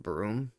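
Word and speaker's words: Brume: called i think it's called broom pronounced broom even though it's b-r-u-m-e i think they pronounce it broom right here get keep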